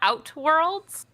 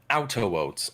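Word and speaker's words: The Outer Worlds: Also, do you call it Outworlds? Outer Worlds.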